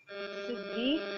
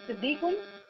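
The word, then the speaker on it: صديقي: हाजा सिद्दीक सिद्दीकुन सिद्दीकी sorry sir. हाजा सिद्दीकी अली ओवा Muallem. Correct. There is a pronunciation mistake little, सद्दीकी, there is अ फतह ऑन स्वाद, सद्दीकी।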